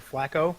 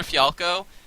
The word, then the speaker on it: Fialco: I don't know how to say it, but I just always call him Tyler Flacco. Oh, Tyler Fialco.